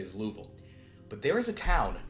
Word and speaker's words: Louisville: oh Louis so yeah so it's Louisville the French way like you know it's spelled with the is but it's like like everyone there no one says Louisville they get real mad at you it's like it's definitely Louisville well really what they